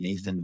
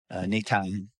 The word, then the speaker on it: Natan: This one becomes interesting because I don't know how you say his name, not Nathan, but Natan.